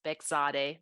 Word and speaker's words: Bekzadeh: ahead first M uh the pronunciation is beade I know it's a hard one I apologize blame blame my husband it's not my fault um so my name is bigade thank you so much